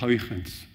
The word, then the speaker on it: Huygens: Son nom c'est Huygens, souvent on dit Huygens en français, les collègues étrangers ne comprennent pas du tout ce qu'on raconte, parce que c'est un néerlandais, c'est un hollandais, et en néerlandais, ça se prononce quelque chose comme Huygens.